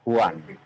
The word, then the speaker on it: Juan: Kalau orang Latin, Juan bacanya.